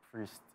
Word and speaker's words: Priesst: mean I just felt like the should be pronounced priest just respect priest you get me interesting you